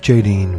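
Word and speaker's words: Aidin: Invoke Jaideen when you need deeper psychic abilities or intuition, especially in matters of love and sexuality.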